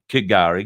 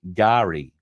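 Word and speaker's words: K'gari: her at all that it is meant to be pronounced Gary so if that is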